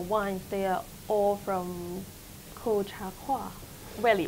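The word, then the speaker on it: Colchagua: so for your wines they are all from koh cha koi welly right it's my pronunciation correct yeah it's a kolchawa it's a native native word of chile that's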